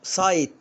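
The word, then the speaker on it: site: طب هنا برافو سايت يعني موقع، وكلكم عارفين كلمة سايت، انا اخش على سايت كذا.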